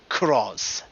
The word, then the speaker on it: Cross-Z: turned into Kamen Rider Cross. And I'm saying that with Cross-Z. The proper way to say it.